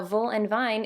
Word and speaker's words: Voolenvine: So and I know cuz you know my grandmother's German and all the W's are pronounced with a V.